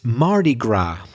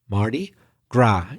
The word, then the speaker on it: Mardi Gras: It's Mardi Gras. I'd better spell that. M-A-R-D-I, Mardi Gras, G-R-A-S. So you probably have guessed, if you didn't already know, that isn't really English, it's French.